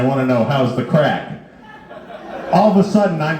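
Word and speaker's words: craic: for a good time you say where's the crack or how's the crack. Now that's spelled c r a i c.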